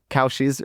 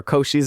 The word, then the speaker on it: Cauchy's: He's like, "Oh, some people think it's pronounced differently, but it's actually Cauchy's residue theorem.